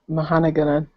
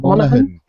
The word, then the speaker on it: Monaghan: Dominic Mahanagan. I can't pronounce his last name, that's why I didn't say it. Ross. Dominic Monaghan or something, maybe? Is that it? Yeah, something like that. You're not Dominic But it's Monaghan. Charlie from Lost.